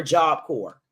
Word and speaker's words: Job Corps: So I knew Kentucky was going to be like a big hub for Job Corps. It's actually Job Corp, but I say either Job Co or I say Job Corps.